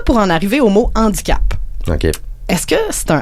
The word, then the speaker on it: handicap: de la langue française, le H de handicap est un H aspiré et on devrait pas faire la liaison. Faudrait dire un handicap.